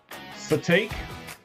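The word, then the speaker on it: Sitake: So, it's Si T A K E. Uh, Satake. His real name is Kiaoa Kalani. Cool. But he goes by Khalani Satake, I guess.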